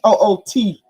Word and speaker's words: Woody: Now, it's spelled Woody, but he will check you real quick because it's Little Woody, like WHOOTY or IE, Woody.